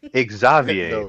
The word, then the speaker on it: Xavier: They literally say Exavier. That is how they pronounce it. And then they write what we would normally say is Xavier, which is probably a name from another country that isn't English.